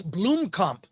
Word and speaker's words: Blomkamp: I heard a South African person explain that that's the way it's pronounced, even though no one does. So it's Blomkamp. Thank you, Blomkamp.